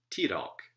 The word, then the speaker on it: tidalk: And so any two-syllable word will be stressed on the first syllable and not the second, as in tidalk, which means saliva.